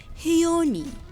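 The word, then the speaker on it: Hiisi: chion chion Shion sha not knowing how to pronounce this name I quickly looked and apparently it's hioni I picked up two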